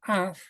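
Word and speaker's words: עב: bien y simplemente esto esta palabra se escribe o se suena como AF pero no es el en el sentido de padre porque no es Alex Bed sino es ainvet este AF es nube perfecto ahora cuál es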